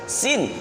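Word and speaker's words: سين: Sin berarti bibir yang bawah ditarik, sin gigi yang belakang, gigi yang bawah kelihatan. Tetapi kalau yang shinnya ini sama-sama gigi atas dan bawah sama-sama kelihatan. Sin, shin, sin, shin, sin, shin, begitu.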